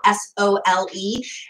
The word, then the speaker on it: Sole: So I've done a Sole water video, S-O-L-E. It's pronounced Sole. It looks like soul, but it's Sole.